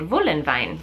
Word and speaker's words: Voolenvine: is from Germany, so all the W's are pronounced with a V in German, so I did Voolenvine.